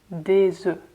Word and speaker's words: œufs: And the plural form of this word is des œufs, des œufs. So we don't pronounce the F anymore.